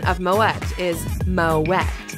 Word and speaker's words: Moët: the correct pronunciation of moette is Moet the French name might make people assume that the t is silent but it isn't the family name apparently